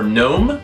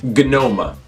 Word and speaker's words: gnome: So words like dumb, gate, answer, knife, or gnome used to be pronounced dumba, gata, with the E being pronounced answer, canife, and gnoma, back when we first made up the spelling for the word. But that just got hard to say, so we stopped saying it like that.